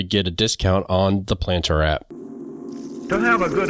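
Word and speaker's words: Plantr: lot of fun using this app and the planter app which is spelled p l a n t r is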